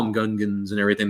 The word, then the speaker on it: Gungan: And freaking in the movie, like they call them Gungans and everything. They say it right, but even still, he would go, I'm the Gungas.